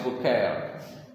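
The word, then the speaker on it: Bucaille: ah itu dia bucaile Maurice bucaile bacanya mauris bukaay mauris bukel Bu nah tulisannya bucail bacanya bukel mauris bukel meneliti di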